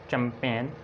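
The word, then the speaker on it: champagne: आप देखें एन से पहले जी साइलेंट है, इसको हम पढ़ते हैं sign, resign, design, line, कंपेन, चैंपेन और क्लोन और असाइन।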